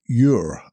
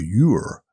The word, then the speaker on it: Ure: it right, Cloughie, William Ure. I think that's how you pronounce his surname. It's U-R, so Ure or Ure, but William.